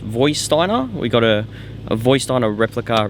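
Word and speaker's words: Vorsteiner: I think it's pronounced Voisteiner.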